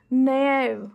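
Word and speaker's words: naive: So this is NAIV. इसको बोलते हैं नेव.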